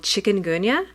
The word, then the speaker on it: chikungunya: much Oh before you leave you got to pronounce that word for us the disease is called chikungunya and it comes from a word which means